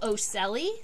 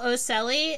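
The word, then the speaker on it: ocelli: its head those are actually what we call oscelli come on there we go all right so these three up here in the top those are what we call osceli it's spelled o c-e-l-l-i and though that's our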